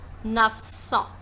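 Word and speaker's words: neuf cents: years with song and 900 is pronounced as nuff song let's rewrite and see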